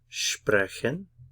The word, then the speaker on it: sprechen: Stress on the first syllable, sprechen.